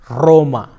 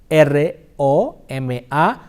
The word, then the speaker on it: Roma: R is initial position is a double trilled, like Roma, R-O-M-A, Roma, Ron, Rio, perro.